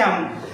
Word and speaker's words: who: इस वर्ड को पढ़ते हैं हु। क्या पढ़ते हैं? हु। देखिए अब यहां पर H का जो साउंड निकल रहा है वो निकल रहा है ह।